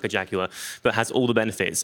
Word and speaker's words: Jaguar: I think Jaguar is how it's pronounced.